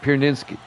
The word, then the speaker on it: Pierzynski: That's how you pronounce it. Pierzynski.